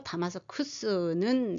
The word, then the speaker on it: 다마스쿠스: 근데 다메섹 하면 히브리식 발음입니다. 디마슈크 아람어 발음이고요. 다마스커스 영어입니다. 그리고 다마스쿠스는 라틴어입니다.